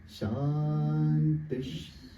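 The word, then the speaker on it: शान्तिः: So it's like Om Shantish. So that this accent over here is like, you could say, is a sh sound.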